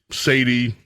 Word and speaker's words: Sadie: Her name is Sadie, or I guess if you were going to do it, Sade, but Sadie, spelled the same way as Sade.